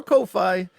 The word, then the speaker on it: Ko-fi: But it just looks like Ko-Fi or Ko-Fi, I guess. If you're using again, my brain starts doing this thing where things get pronounced with Spanish vowels instead of English vowels because of my house, and I end up saying Kofi or something like that. So it's all wrong.